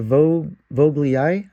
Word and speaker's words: vogelii: And on the Nepenthes shelf, we got a Vogelii, I think it's pronounced.